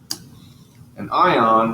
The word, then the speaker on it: anion: end up being negative an ion with a negative charge here's the word and is pronounced anion most anions are nonmetals